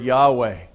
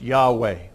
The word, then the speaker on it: Yahweh: to say God's name which we think is pronounced Yahweh we're not sure because nobody's pronounced that name for thousands of years but it's not Lord